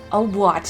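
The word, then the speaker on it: hautbois: Obwat is how you say oboe in French.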